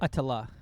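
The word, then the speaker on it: Ötillö: Atillaa. Aillaa. Okay. That's how this Okay. Yeah. Good. Clearing that up. That's how Swedish people say it.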